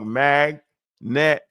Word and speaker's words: magnetoreception: to learn in school you gota break down the syllables right magnet setion that's how you do look magnetoreception magnetoreception magnor magnetoreception yeah there you go